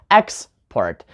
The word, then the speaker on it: export: we put the noun who put the stress on export right on the first syllable export then adjectives we have